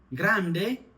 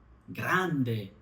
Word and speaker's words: grande: আসেন সরে সেলিয়ারেশলতা আমরা এরপরে যেমন কিছু শব্দ উচ্চারণ করেন গ্রান্ডে লাটে ন গ্রান্দে লাতে উচ্চারণ ইতালিন ভাষায় দ মত হয় গ্রান্দে